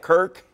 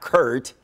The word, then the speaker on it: Kirk: name maybe it's intentional the hash tag Kirk not Curt is trending on Twitter